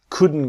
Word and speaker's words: couldn't: The T is silent, so it becomes we couldn't go.